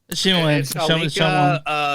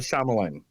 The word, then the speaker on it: Shyamalan: Shyamalan. Shyamalan.